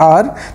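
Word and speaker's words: hour: शुरुआत में दिया है आर तो इससे पहले यहां पे जो है ए दिया है और आर की जो साउंड है ये आ से आ रही है तो यहां पे एच साइलेंट रहता है आप सभी को पता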